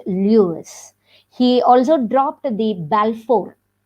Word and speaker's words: Louis: balfour stevenson in 1850 he later changed lewis to louis but continue to pronounce it lewis he also dropped the